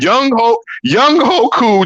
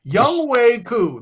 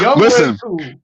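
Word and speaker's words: Younghoe Koo: Young Wei Koo. That's how you say it. He's not a young ho. I know you want to call him one because the way he kicked that ball, it's Young Wei Koo.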